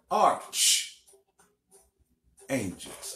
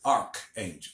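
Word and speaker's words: archangel: are supported by our arch angels I I have to remind myself to pronounce it arch love lot of people pronounce it arc angel nose arch angel an arc is different from an arch all right it's an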